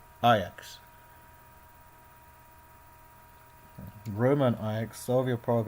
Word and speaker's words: Ajax: Sometimes you think it's like AX, but it's not AX, it's Ajax.